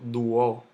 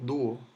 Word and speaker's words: dúo: Entonces, yo no digo dúo, no, yo digo dúo. Entonces, cuando analizamos la pronunciación, hay dos golpes de voz, du o.